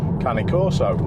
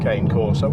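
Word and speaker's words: Cane Corso: One of the reasons why we got Cali, our Ki Corso or Kane Corso as someone pronounce or some people pronounce it. I used to until um a few people corrected me on it.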